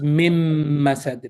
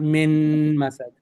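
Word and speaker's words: مِن مَسَد: So any letter that's empty followed by a shadda, that letter is not pronounced. So that's what's going on here. So it's mim masad, not min masad. There's no noon sound.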